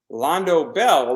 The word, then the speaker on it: Londo Bell: Londo Bell rhymes with Taco Bell.